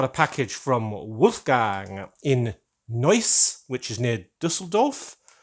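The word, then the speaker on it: Neuss: which is near Dusseldorf I hope I pronounce noise right a bit hard to say that in English without spelling it'd be news in in English if I pronounced it in a British way but here we go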